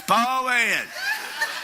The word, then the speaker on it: Poyen: You make only Southerners can make two syllables out of one word. That's what I'm saying. Poyen, that's what it's Poyen.